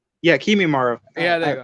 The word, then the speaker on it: Kimimaro: Wait, you mean Kimimaru, His right? Yeah, Kimimaro. Yeah, there I you go.